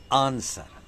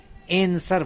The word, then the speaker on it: answer: एक छोटा शब्द लेते हैं, वह शब्द है आंसर, ANSWER, आंसर। इसके दो उच्चारण हैं। इंग्लिश प्रोनंसिएशन में यह शब्द आंसर बोला जाता है, जबकि अमेरिकन प्रोनंसिएशन में एंसर बोला जाता है।